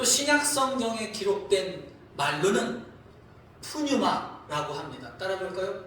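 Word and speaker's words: πνεῦμα: 또 신약 성경에 기록된 말로는 푸뉴마라고 합니다. 따라볼까요? 푸뉴마.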